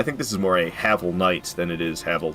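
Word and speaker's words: Havel: that long ago and they they pronounced it haval I was like hey I'm not the only one but I've changed my ways I say havl now even though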